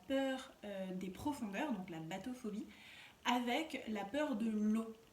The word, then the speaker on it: bathophobie: Et donc ça s'appelle la bathophobie. Alors, ça s'écrit pas comme un bateau. Je trouvais ça, à l'oreille, je trouvais ça... Oh, bateau, profondeur. Non, en fait, ça s'écrit B-A-T-O. Et phobie. Donc la bathophobie.